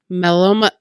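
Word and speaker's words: μελομακάρονα: But I looked them up how to pronounce them, and it's pretty straightforward. It's melomacarona, which are honey cookies.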